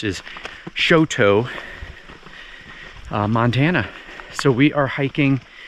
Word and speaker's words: Choteau: Welcome to the Bob Marshall Wilderness area here outside of what we found out how to pronounce is Choteau, Montana.